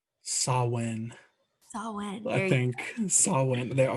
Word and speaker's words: Samhain: Samhain. Samhain. I think Samhain. I was like, M's silent, and it's not Hain. No. Everybody was saying it with a W, so I was like,